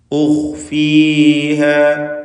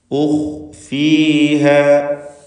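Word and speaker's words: أخفيها: ഉഖ്ഫീഹ, ഇതിൽ ഖാഇനെ നിസ്ബിയായ തഫ്ഖീം ചെയ്യണം. ആപേക്ഷികമായ തഫ്ഖീം എന്ന് വെച്ചാൽ സുക്കൂനായതുകൊണ്ട് ഫത്ഹ് നൽകുമ്പോഴുള്ള അത്ര തന്നെ തഫ്ഖീം ഉണ്ടാവുകയില്ല എന്നർത്ഥം. ഉഖ്ഫീഹ ലിതുജിസ, ലിതുജിസ ഇതിലുള്ള ജീമിൻ്റെ സുക്കൂൻ ഖൽഖല സുഗ്റ നൽകി ശബ്ദം ഹറക്കത്ത് പോലെ ചലിപ്പിക്കണം.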